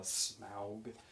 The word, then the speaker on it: Smaug: in the Desolation of Smaug. I guess that's how you say it. I guess you say it like OW instead of like, smoke and fog.